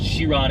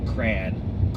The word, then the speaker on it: Chiron: But it's Chiron, it's French, and then it's not Cryon.